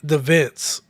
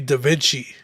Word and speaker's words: Da Vinci: He called it Da Vinci, Da Vince. But it's supposed to be Da Vinci.